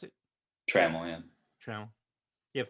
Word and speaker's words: Trammel: How do you pronounce it? Trammel, yeah.